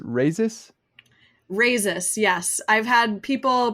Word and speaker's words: Rayzis: so uh your last name is pronounced raisis risus yes I've had people pronounce it many different ways uh racist razor uh yeah but it's I know it's terrible uh raises is the the correct pronunciation yeah well cool